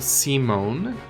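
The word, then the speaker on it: Symon: okay all right Lord Simone I like how it's pronounced semen I would have I would have pronounced that Simon but fun okay welcomes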